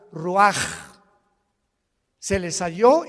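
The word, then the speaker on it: רוּחַ: exhaló Isaac el Roach así como suena se pronuncia la c en hebreo como J ruaj se le só y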